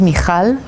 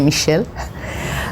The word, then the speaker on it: Michal: you okay so again my name is mikal this is how you pronounce this for the people from Holland I guess it will be easier to say for for those it's difficult you can say Michelle um uh indeed I